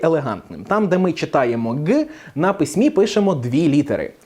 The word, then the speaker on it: Ґ: вимовляється вся ця конструкція ніби ви хочете сказати к але кажете г і у вас має виходити Ґ це Це не зовсім